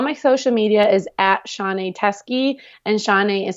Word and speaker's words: Shaunae: And yeah, it looks weird, but it really is easy. It's just Shaunae.